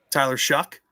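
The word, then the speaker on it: Tyler Shough: Now pronounce that again ex the right way. Like you said, Tyler Shuck.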